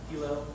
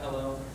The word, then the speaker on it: HELO: the got you uh to stress V is a Hilo and not a hello the term is but